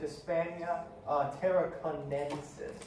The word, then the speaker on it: Hispania Tarraconensis: The correct answer is Hispania Tarraconensis, so an extra syllable.